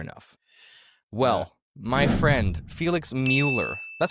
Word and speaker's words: Mueller: Well, my friend Felix Mueller, that's how you say your last name properly, right? Felix Mueller.